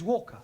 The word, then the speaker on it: Walker: at Mrs vka Walker what w is pronounced W your employer's name is Walker yeah vka do you